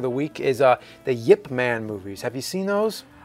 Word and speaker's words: Ip Man: and yeah by the way it's clink it's pronounced the Yip Man but it's spelled it man yeah it's about